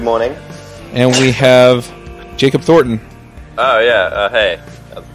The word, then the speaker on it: Thornton: And we have Jacob Thornton. Oh, yeah. Hey. How's it going? Thornton?